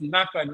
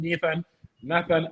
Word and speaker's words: Nathan: I want for the viewers, it's Nathan. We keep on saying Nathan Ake. But Oh, I didn't even know that. yeah. It's a Flemish pronunciation.